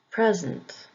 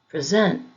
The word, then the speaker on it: present: on the first syllable present present insult insult export export if the word is being used as a verb the emphasis will be on the second syllable present present insult insult export